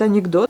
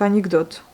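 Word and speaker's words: анекдот: Donc anecdote. L'accent il va sur le o, vous voyez, et non pas sur le e. Du coup, le e, des fois, on peut le prononcer en tant que i.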